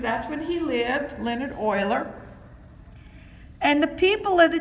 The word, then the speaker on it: Euler: Graph theory started with a mathematician named Leonhard Euler. His last name is spelled E-U-L-E-R, but it is pronounced like O-I-L-E-R.